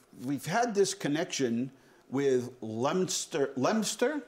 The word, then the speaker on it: Leominster: had this connection with Leominster Leominster is that how they say it they say it lemster like in Pennsylvania to say